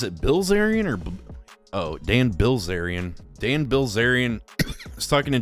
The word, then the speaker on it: Bilzerian: Bazerian. Is it Bilzerian or Oh, Dan Bilzerian.